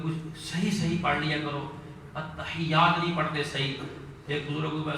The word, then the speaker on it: التحیات: میں نے کہا آپ پڑھیں میرے پیچھے پیچھے التحیات التحیات التحیات، میں پیچھے لگ گیا انہوں نے، وہ بھی